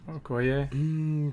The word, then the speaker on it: Okoye: How do you pronounce her name? Okoye.